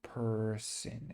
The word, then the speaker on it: person: And so person, and so it just kind of, I would call it the schwa sound, person, right here, because it's not son, person, it's person. Okay, that's a common mispronunciation right there.